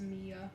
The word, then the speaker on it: Mia: All right, Maya, let me check that out. Cassidy, you will be next, hon. She said it's pronounced Mia. It's Mia? Okay, sorry about that.